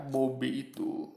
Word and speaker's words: Bobby: Tapi pelafalannya berbeda kan. Nah, bahkan cara orang nyebut pun beda. Mungkin orang beli kan juga Bobby gitu. Bobby gitu kan. Nah, kalau orang biasa kan Bobby gitu. Jadi nadanya beda, cara nyebutnya, atau misalnya yang lain lah.